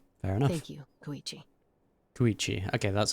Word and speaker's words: Koichi: Koichi.